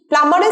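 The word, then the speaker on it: plumber: you call প্লামার please প্লামারের spelling A বি থাকলেও বি কিন্তু উচ্চারণ হয় না এম বি ইংরেজিতে যদি একসাথে থাকে তাহলে বি এর সাউন্ডটা কিন্তু উচ্চারণ হয় না প্লামার মাইক্রোওয়েভ থেকে খাবারগুলো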